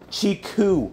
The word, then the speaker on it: Chiku: Chiku, guys. It's spelled C-H-I-K-U. Chiku.